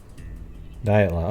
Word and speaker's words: Dyatlov: We're going to do the Dyatlov Pass. How do you say it though? I mean, I've heard people say it like Dyatlov or something, right? I do need some rest. Dyatlov. Okay, so I'm saying it right.